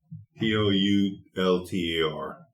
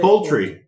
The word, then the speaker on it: Poulter: Poulter. I don't know if that's French. Should I pronounce it English? Poulter. I would say poultry. I would say poultry. Kind of like poultry.